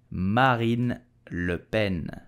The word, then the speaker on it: Marine Le Pen: far-right party in France so how do we pronounce her name correctly we will say Marin Lupen Marin Lupen Marine Le Pen Marine Le Ben did you know that the father of Marine